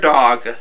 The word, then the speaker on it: Dawg: Junkyard Dawg. And the dog is spelled D-A-W-G, like dog.